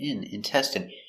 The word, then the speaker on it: intestine: So remember the in is pronounced in intestine.